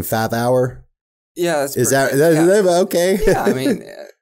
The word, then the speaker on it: Fathauer: G I got to say your last name fath hour yeah is that okay yeah I mean how do you pronounce it fat hour fat hour fat hour y fat hour okay so the